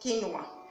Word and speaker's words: quinoa: Actually, if you can see, the spelling is quinoa, but it's pronounced quinoa.